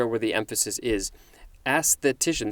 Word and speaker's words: aesthetician: where the emphasis is aesthetician this is one of those that has a double emphasis first on the first syllable and next on the third syllable and the third syllable has the most emphasis can i say it